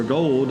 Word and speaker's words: Gould: It was in the game last Sunday when Robbie Gould, or Gold, they pronounce it Gold.